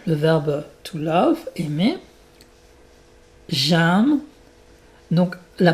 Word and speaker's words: j'aime: J'aime. Donc la prononciation est importante. Donc c'est un tu écris aim mais tu prononces ça comme un un e accent grave.